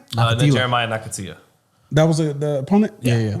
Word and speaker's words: Nakathila: Then Jeremiah Nakathila. That was the opponent. Yeah. I feel like that does not say that. Oh, his game plan was to H knock. is silent.